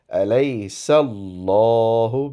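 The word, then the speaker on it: أَلَيْسَ ٱللَّهُ: Alright, so in this verse, it is Alaysallahu, because Seen has a fatha or a zabar before the word Allah. That is why it is pronounced with a round shaped mouth.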